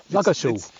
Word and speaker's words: Ludgershall: It's really a silent D. It's a silent D. That's the best way to remember it. But for years I was going, how do you say that? Yeah. It's like Ludger. It's like my false teeth are falling out.